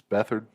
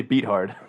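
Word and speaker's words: Beathard: how you say it it's bethard I thought it was bethard you could say beard that's I thought it was beard bethard bethard beard is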